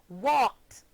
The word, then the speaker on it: walked: The ed ending of unvoiced or voiceless sounds take on a t sound when placed at the end of verbs.